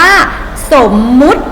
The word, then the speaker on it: สมมติ: ต่อ ไป คำ ว่า สมมุติ สมมุติ อัน นี้ เวลา เขียน คำ อ่าน นะ คะ สมมติ แต่ มัน เขียน สม มติ แต่ เวลา อ่าน ว่า สมมติ นะ คะ คอม นี้